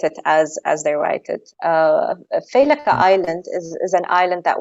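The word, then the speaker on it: Failaka: So, Faileka Island? Yes, Faileka. Okay. Yeah. Well, it's pronounced Faileka, but it's because in Arabic we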